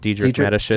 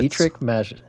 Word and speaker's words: Dietrich Mateschitz: The first race at the home track since how do you pronounce the Red Bull founder's name? Dietrich Mateschitz. Dietrich Mateschitz.